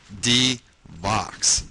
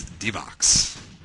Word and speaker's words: D-Vox: says, just a tip, you pronounce his name like this, D-Vox, D-Vox, D-Vox. So there you go. I won't forget, it's D-Vox.